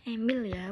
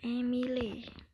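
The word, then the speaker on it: Émile: selanjutnya yaitu emile durkheim bacanya emilya bukan emile ini udah Fem IPB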